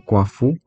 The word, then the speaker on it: 夸父: Então esse primeiro marcador, nosso gigante Quafu, ou a gente pronuncia como Quafu, é um gigante que tem algumas características, como por exemplo, carregar um cajado grande de madeira.